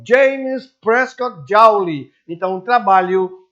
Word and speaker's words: Joule: jaure que equivale a Newton x metro a pronúncia é o James prescott Joule então trabalho é oferecido e fornecido em Joule